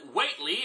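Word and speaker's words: Whateley: a mysterious man named what Lee and I know I'm supposed to pronounce it whately after the minor character from one HP Lovecraft story but screw that this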